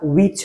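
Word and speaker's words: which: আছে সেটা আমরা দেখব তারপর কোনটি উইচ হুইচ হবে না উইচ হবে উইচ বলো কি হবে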